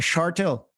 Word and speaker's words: Shortill: So there is no H in it, a Shortill, right? So, and then the R, like most Irish people don't pronounce it.